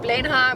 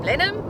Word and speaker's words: Blenheim: So we've been saying Blenheim, but then on the radio we heard Blenheim.